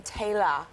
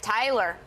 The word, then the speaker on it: Taylor: especially love it because they all pronounce my name Taylor here oh yes okay instead of oh I'm used to hearing it Tyler that's how I'm used